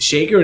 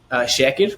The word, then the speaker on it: Shaker: away just with just English absolutely so I pronounced it Shaker Medical Group is it Shaker then it is it is it's Shaker in English uh it's actually shacked which means to give thanks or giving thanks